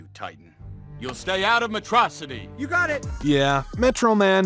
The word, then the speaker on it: Metro City: of mispronouncing certain words he pronounces school as a Sho and pronounces Metro city as metrocity this atrocity finally catches